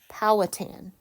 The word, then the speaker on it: Powhatan: It is pronounced pow, sorry, that's a G, not a schwa, tan. So this is an A. Powhatan.